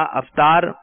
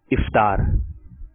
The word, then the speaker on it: افطار: درست تلفظ بتانا ہے. افطار یا افطار, کیا کرتے ہیں ہم رمضان میں؟ افطار. آپ نے کہا افطار, اور اس کا درست تلفظ ہے افطار.